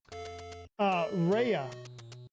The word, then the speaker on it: Ray: 23 Dustin Taylor says, can you say hey to Ryder and Ray, pronounced Raya? Absolutely. Absolutely. Raya.